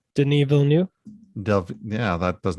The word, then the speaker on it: Villeneuve: Because part of one of Dennis, how do you pronounce his last name? Denis Villeneuve.